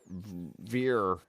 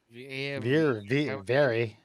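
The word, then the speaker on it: Vere: be God bless Captain veer v-e-r-e how do you spell how do you say that is it beer very yeah anyway it was a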